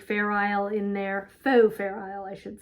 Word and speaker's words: Fair Isle: Isle in there faux Fair Isle I should say um as long as we can put faux and put a silent X and Fair Isle with the silent s um so that's that